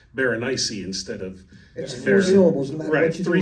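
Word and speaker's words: Berenice: the teeth is pronounced Baron instead of three syllables well because he actually spe yeah well he specifically said it rhymes with very spicy which is interesting that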